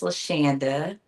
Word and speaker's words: Landa: So, uh, my name is Landa. I often tell people it rhymes with pandas, so they can remember a lot.